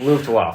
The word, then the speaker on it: Luftwaffe: Luftwaffe. There you go. Yeah, my pronunciation on German is not that great.